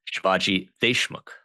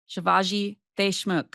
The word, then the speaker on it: Shivaji Deshmukh: Shivaji, my friend, Shivaji Deshmukh. Close. Close? Okay, correct my pronunciation for all of our listeners out there who have probably said it wrong many times. Shivaji Deshmukh. Shivaji Deshmukh.